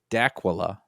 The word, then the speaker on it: Dacula: So Bob from, now it says looks like Dracula, Georgia, but he says it doesn't rhyme with Dracula. It's Dacula.